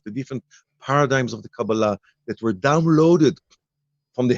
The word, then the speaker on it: Kabbalah: And another thing about not just the title, but even the pronunciation, we rather use the Kabbalah, the Hebrew version of the pronunciation, which is, Kabbalah sounds very American, if That's you right.